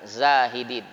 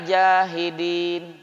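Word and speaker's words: زاهدين: Zai, alif, ha, dal, ya, nun, zahidin. Kalau bacanya tidak fasih, wafid dunya jahidin.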